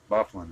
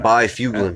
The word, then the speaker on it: Byfuglien: absolutely go team Dustin Byfuglien that's how they pronounce it there's like it looks like by few mil yeah and that's what you call them but for you going